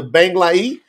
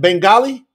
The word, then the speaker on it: Bengali: promote the truth website into bangai how do you say that Bengali yeah Bengali Bengali okay so we want to